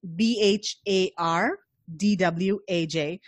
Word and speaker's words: Bhardwaj: hard watch and then my last name is pronounced be har D Waj but if you search